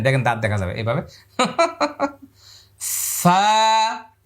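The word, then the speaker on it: ف: এই 2 দাঁত এই ঠোঁটের মধ্যে লেগে যাবে, হ্যাঁ। এটা হলো 14 নম্বর মাখরাজ। এবার লক্ষ্য করুন, এই যে দাঁত দেখা যাচ্ছে। ওই যে আলিফ বলার সময় আমরা যে প্র্যাকটিসটা করেছিলাম, আলিফ মানে শেষে ফা ছিল, ফা, ফা, একালি পরিমাণ লম্বা, ফা। এভাবে বারবার বাতাসটা দাঁত এখানে লাগাইছেন, ফা, ঠোঁট লাগাইলে আর ফা হবে না, হ্যাঁ। এরকম করলে ফা বলতে পারবেন না।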